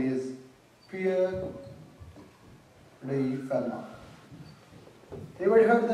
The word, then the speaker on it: Fermat: And in Toulouse, there lived a gentleman whose name is Pierre Fermat. Anybody heard the name Fermat? It's actually F-E-R-M-A-T, but it's pronounced like Fermat, T silent.